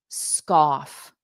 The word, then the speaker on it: scoff: Scoff, off. So it's like cough, but scoff, scoff.